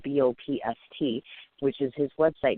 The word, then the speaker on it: Bopst: That's it, and it's pronounced just Bopst. Bopst, just like that.